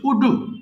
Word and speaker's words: would: right সে লিখতো they উড রাইটে তারা লিখতো ইট উড রাইট ইহা লিখতো আচ্ছা তোমার স্পিড ঠিক আছে কিন্তু তুমি বলেছ উডু উডু হবে না হ্যাঁ সিম্পলি উড বলবা বলতো আমার সঙ্গে উড